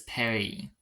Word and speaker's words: Paris: know the first word I can only pronounce as the French pronounce it Perry like yes for most of the r is Paris for the French is Perry I can only say